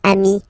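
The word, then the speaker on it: amis: okay but then technically you pronounce it the same way so singular form Ami plural phone you add this s but it's Amy as well okay in that case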